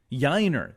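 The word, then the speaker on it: Yainer: Lee or Jana yanio pronounce that for me I always have trouble yiner thank you yeah like Shiner okay I got that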